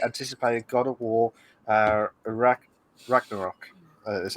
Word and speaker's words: Ragnarok: include the highly anticipated god of war iraq ragnarok that's how you pronounce it uh the service is said to